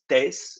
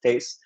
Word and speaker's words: Thijs: With that being said, hello, my name is Thijs. Yeah, that's how you pronounce that, Thijs.